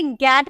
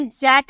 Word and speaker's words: get: ठीक है, तो ये आपको याद रखना होगा कि गेट, हम इसे जेट नहीं गेट ही बोलते हैं।